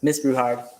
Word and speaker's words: Bruhard: So nice to meet you, Miss Bruhard. Did I pronounce that right? That's exactly how it's pronounced, actually.